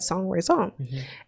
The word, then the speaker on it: sans raison: And she said it's pronounced it said sans raison.